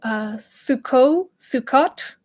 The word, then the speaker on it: Sukkot: So another word, I guess, is, I'm not going to pronounce this wrong, Sukkot. It's spelled Sukkot.